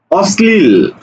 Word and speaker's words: অশ্লীল: দেখো অম্লান, তাহলে ম্লান, অর্থাৎ দ্বিত্ব করে উচ্চারণ হবে। দেখো বলছে বিশ্লেষণ, বিশ্লেষণ, বিশ্লেষণ, এই যে শয়লয়, ঠিক আছে, বিশ্লেষণ। অশ্লীল, অশ্লীল, অশ্লীল, ঠিক আছে।